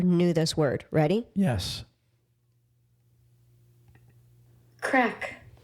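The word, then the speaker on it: craic: this word ready yes crack did you just say crack crack like C A C K well it's spelled c r a i c crack crack hm so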